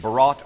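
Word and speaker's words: Bharat: And if you're unfamiliar with what Barat Ruby is, it's actually pronounced Barat or Barat Ruby like the Indian style of film.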